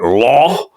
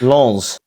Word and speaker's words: Lens: You have to add the S at the end. It's Lons.